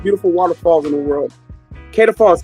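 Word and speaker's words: Kaieteur: Kada Falls. K A I T E U R is how it's spelled.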